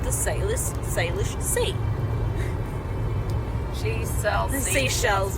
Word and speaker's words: Salish: So, for all of you who are hanging, the Salish Sea, so Salish, which is spelled S-A-L-I-S-H, Salish.